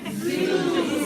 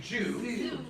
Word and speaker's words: zoo: Okay, everybody say zoo. Zoo. Now, I think you were saying zoo. The M sound at the end, okay? All the Korean folks, they'll say Jew.